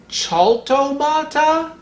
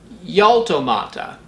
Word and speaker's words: Jaltomata cajacayensis: Mexican botanists generally pronounce the J as in the J in Mexican Spanish. So that would mean this would be Jaltomata cajacayensis.